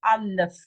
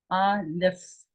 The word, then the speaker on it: Aleph: Aleph, Aleph. An F like in fish. A-L-E-P-H. Aleph. Aleph. This is our first letter. Its value is 1. It is the front. It is the beginning. It is a very important letter. It doesn't have a sound.